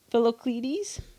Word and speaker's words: Philoctetes: His full name is Philocletes. That's a T. Philocletes.